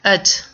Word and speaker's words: I'd: I'd sounds like ud.